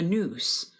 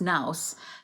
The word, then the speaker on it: nous: and the animal soul the news or sometimes pronounced nouse the intelligence and sookay the